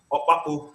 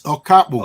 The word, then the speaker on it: Okapu: Okpapu, did I pronounce that correctly? No, you mix it up. It's Okapu.